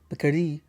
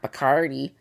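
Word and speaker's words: Bacardi: Apparently, it's Bardi, not Bikardi. Uh, but the cocktail I made today is doesn't have rum in it at all.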